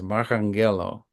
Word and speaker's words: Marranghello: and by the way the pronunciation of his last name is marango or you should you should correct me if I'm yes that's correct yeah the ours in